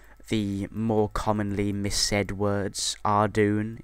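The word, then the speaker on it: Ardougne: more commonly missed words ardoon is a is a good example uh i remember when i called it ardajun no idea why i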